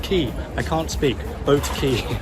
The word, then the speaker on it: Quay: Quay, it's pronounced Quay.